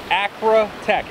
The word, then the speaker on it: Acratech: really quick uh the I'm going to pronounce them very slowly here at first because the names do get flip-flop uh especially with me a bit this is an Acro Tech AC r a te c h uh this is the